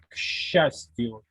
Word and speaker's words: счастью: C'est une particularité de la prononciation. Ça s'écrit S-C-A, mais ça se prononce kshastio. Kshastio. C-Ch se prononce comme ch.